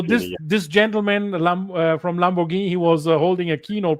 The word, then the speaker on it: Lamborghini: Is it Lamborghini or Lamborghini? Lamborghini. Lamborghini. Italians say Lamborghini. We in Germany we say for some reason Lamborghini. So Lamborghini is the right word.